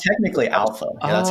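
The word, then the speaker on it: ALPHV: alpha. Yeah, how do you pronounce like alpha? It's technically alpha.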